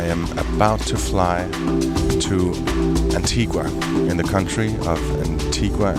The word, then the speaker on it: Antigua: some say Antigua Antigua is the Spanish pronunciation because of the whole Columbus thing and in Spanish Antiga